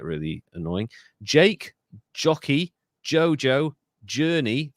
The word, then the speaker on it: Jurnee: Jake, Jockey, Jojo, Journey, that's spelled Jurnee, and Jazz.